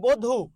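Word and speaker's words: বধূ: মনীষাহ ওকে তাহলে বধু একটু খেয়াল করুন এখানে দীর্ঘকার আছে তার আগে একটা অ আছে লুকায়িত অ আছে এই অ এর উচ্চারণ কি হবে ও হবে বয়কারে বীর্ঘকার থাকলে রস উকার বয়কারে ব্র বধু আচ্ছা বুঝতে পেরেছেন আবার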